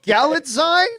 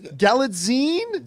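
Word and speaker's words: Gyllenhaal: I I pronounce it galad galine Jonathan is our the the the grammar right here the grammar man I think it's galine like magazine okay galine there we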